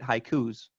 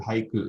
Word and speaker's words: haiku: same with diphthongs too we could look at the word haiku itself to us it's two syllables but in japanese it's high three beats three more for those listening let's just stretch it out it would be three that's a perfect example tyler that's two syllables in english that's going to be three more in japanese so the question is